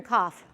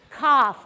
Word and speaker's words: cough: How are the sounds you hear in cough? K, ah, f. Okay, how do you want to do those? Let's do them first. Squats. Okay, ready? F. Cough. Okay, k, spelled with a C. Ah, spelled with a F, spelled with a GH. So C-O-U-G-H. Cough.